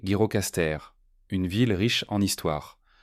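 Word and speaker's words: Gjirokastër: Agirocaster prononcé Girocaster, une ville riche en histoire.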